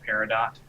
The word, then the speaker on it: Peridot: Parado, parado. In America, we pronounce it Peridot.